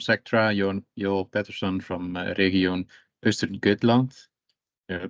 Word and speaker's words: Östergötland: This webinar will be given by Erik Gabrielsson from Sectra, Joel Pettersson from Region Östergötland. I pronounced it right, yeah.